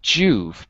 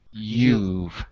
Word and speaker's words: you've: Not Juve, but you've. Yeah.